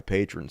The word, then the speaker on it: Patreon: And that's how you say it, Patreon.